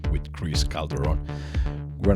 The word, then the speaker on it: Calderon: oh i know that this is mexican calderon yeah calderon the right pronunciation is calderon calderon yeah yeah you